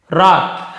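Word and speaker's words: wrath: फिर है रॉथ, है ना, इसे भी रॉथ पढ़ेंगे, W नहीं पढ़ेंगे, रॉथ यानी होता है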